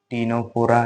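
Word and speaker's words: Ctenophora: Next C फॉर टीनोफोरा। ठीक है? देखो ये सी जो है ये साइलेंट में रहेगा।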